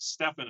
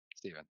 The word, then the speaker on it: Stefan: Now, let's shift over to, now I heard you said Stefan a minute ago, and I said Stephen. What's the proper pronunciation there? Stephen. Stephen. Okay, I want to make sure I got it right.